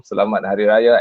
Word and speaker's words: Selamat Hari Raya: And that's how they say it in Malaysia, Imam. Selamat Hari Raya and Eid Mubarak.